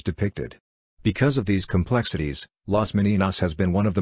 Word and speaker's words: Las Meninas: Las Meninas, pronounced Las Meninas, Spanish for the Ladies in Waiting, is a